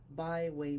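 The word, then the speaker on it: Baihui: The top of your head has an energy point called the byway point. It's spelled B A I H UI, in case you're interested. All your body's yang energy channels.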